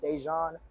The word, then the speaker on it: DeJon: So it's going to be like, you say it like deja vu. So it's going to be THEVDEJON, DeJon, REID, DeJon.